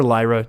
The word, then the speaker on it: Lyra: is able to kill Lehrer on board or Lyra depending on your pronunciation I don't get upset either way o discover a card